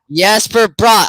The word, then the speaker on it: Jesper Bratt: Jesper Bratt. All right, man. That's how his name's pronounced.